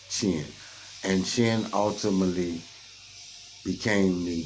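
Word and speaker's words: Qin: the state of chin it's spelled q-i-n you will see it in the text however it is pronounced chin and Chin ultimately became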